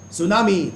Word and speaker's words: tsunami: it is said that when you say tsunami that starts from T and T is silent these are the rules